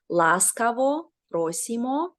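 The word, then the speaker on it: Ласкаво просимо: great right so um welcome in Ukrainian is actually two words right and they're pronounced laso rimo glad you're here is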